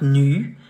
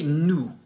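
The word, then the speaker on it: nous: say not no not new the final s is silent how do you say nu for the plural form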